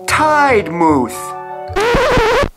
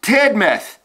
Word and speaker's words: Tidmouth: Tidemouth. It's pronounced Tidmouth.